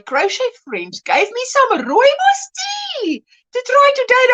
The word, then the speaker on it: rooibos: Do you want coffee, English tea, or rooibos tea?